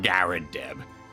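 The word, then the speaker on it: Garrideb: remember brightly the landlord is a mr john garadeb that's how you pronounce it okay guy deb all right well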